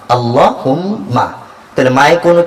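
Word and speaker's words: اللهم: আল্লাহ হা মিম পেশ হুম মিম জবর মা আল্লাহুম্মা তাইলে মায়ে কোন কি নাই টান নাই অথচ আমি কি বলছি আল্লাহুম্মা আল্লাহুম্মা অর্থ অভিধানবিদরা বলেন আল্লাহুম্মা অর্থ হচ্ছে ইয়া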